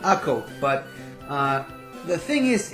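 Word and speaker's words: Akko: that's accurate i mean it's in hebrew it's called ako but uh the thing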